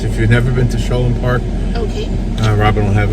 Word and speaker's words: Sholom: Sholom Park. We've been saying Shalom all these years.